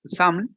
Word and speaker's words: XAML: la programación del diseño es el xaml o Sam también lo van a escuchar pronunciar de esa forma sí que es el